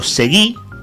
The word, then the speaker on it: Seguí: Julio Agustín Seguí, o Seguí, claro, no tiene tilde su apellido, al menos en sus redes sociales, pero se pronuncia de esa manera.